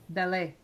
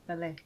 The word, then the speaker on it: ballet: Ballet. 7-8. Okay, ballet. T. Yay. How do you pronounce this word, James? Ballet. Ballet. Ballet. I think it's amazing. It's a French origin.